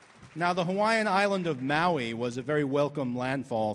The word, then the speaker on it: Maui: on whaling vessels and sailors usually pronounce the island's name mohi so we think of it as maui but in those days pretty much everyone called it mohi who was speaking english